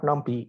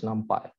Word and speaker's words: NumPy: to a number jail it's not numpy it's numpy and you import numpy as